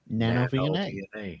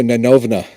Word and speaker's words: NanoVNA: name of this thing nanov nanov no it's no it's a nanova that's the Russian pronunciation okay in Soviet Russia